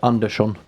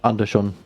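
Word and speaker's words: Andersson: love languages and stuff I didn't know under Sean was pronounced with SH is it like Nashik norwegian yes that can be pronounced the north KOA norsk no just Sh Nashik and under Shawn yes under Shawn is Swedish yeah yeah the thing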